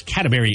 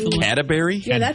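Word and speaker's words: Cadbury: my wife loves those catberry eggs the like the cream filed or caramel say catry catry not catberry catry no I did say it you're right I said it wrong catberry eggs why what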